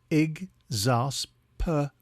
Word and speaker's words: exasperated: a time today's word is exasperated it is pronounced IG Zas pered and is spelled e x a s p